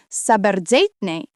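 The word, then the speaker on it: საბერძნეთი: kept its original worldview, calling Greece this word pronounced as Saberzeitne, which literally means land of the wise.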